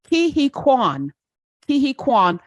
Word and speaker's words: Huy Quan: Huy Quan.